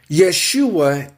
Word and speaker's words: Yeshua: So, first of all, what I want to tell you guys, whoever listens, is that Yeshua is Jesus' name pronounced in Hebrew, the Hebrew tongue, the Hebrew language.